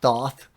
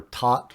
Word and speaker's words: Thoth: he has met like Thoth or taught I think he pronounces it who uh you know